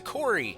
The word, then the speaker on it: Corey: To Corey, the G is silent.